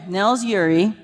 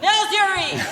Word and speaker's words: Nels Ure: Nels, do you pronounce all the vowels in that name? The what? Yes. Okay, Nels Ure is a second-generation Bristol Bay fisherman based in Naknek in his off-season.